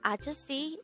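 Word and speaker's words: 아저씨: hangout word number 146 this is pronounced as a three syllable word the first syllable is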